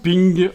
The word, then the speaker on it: PNG: Rainbow swos dot ping puisque PNG ça se prononce ping en anglais voilà donc dans dimension